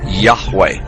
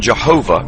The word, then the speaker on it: Yahweh: most often rendered as Yahweh when written or spoken by Christians and others it is still never pronounced aloud by Orthodox Jews the pronunciation Jehovah is an older less accurate rendition of these letters it originated with the